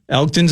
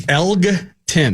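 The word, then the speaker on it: Elgton: Elton's out of the mix. Is it Elton? I never pronounced that correctly. Elgen, I believe Elton Elton's fine.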